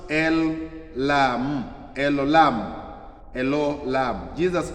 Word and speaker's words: El Olam: Then when you read Genesis 21:3, Psalms 91:1-2, Isaiah uh 40:28, then Romans 1:20, pronounced El Olam, El Olam, El Olam.